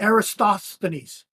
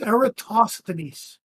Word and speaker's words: Eratosthenes: He said Aristosthenes. That's not his fucking name. Doesn't matter, man. It's Eratosthenes.